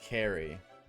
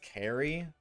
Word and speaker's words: Carrie: You said my name wrong. It's Carrie for the fourth time. It's Carrie.